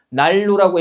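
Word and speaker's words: 난로: 날로라고 했을 때 니은, 리을 만났는데 날로 이렇게 발음이 되고요, 그죠?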